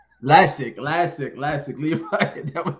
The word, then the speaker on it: Lascsak: and please forgive me if i said your name wrong but that was way off that's uh lasik classic classic classic leaf that was best but listen